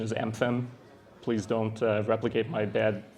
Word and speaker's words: MFEM: And oh, by the way, the correct pronunciation is MFEM. Please don't replicate my bad pronunciation of MFEM, which is going to be, unfortunately, consistent throughout this talk.